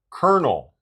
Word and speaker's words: colonel: Colonel.